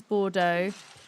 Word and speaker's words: Bordeaux: One of them is Bordeaux.